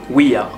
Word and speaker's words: Ouija: Ce qui décrédibilise totalement la chose, mais plus sérieusement on devrait le prononcer Ouija.